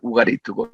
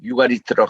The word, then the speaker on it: 우가리트: 그래서 이 아람 이것은 굉장히 구약과 일조와 관계가 있는데 지난 시간에는 우리 시리아에 있는 이 우가리트 우리 현지 발음은 우가리트고 영어권에서는 유가리트라고 합니다.